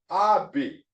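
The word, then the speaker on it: אבי: So put it together, abi, abi, abi, abi. First one is ab. See, with no vowel point there, it was ab. It only had one syllable. But since this has another vowel point on the second syllable, therefore, or second letter, therefore it tells me this is another syllable. So it has two syllables.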